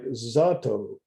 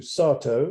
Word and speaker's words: Satow: Cách phát âm sau đó đã được thay đổi góc độ thành Satow được phát âm bằng a ngắn hoặc đúng hơn là a dài (như tôi làm) như trong phiên bản tiếng Anh của cà chua.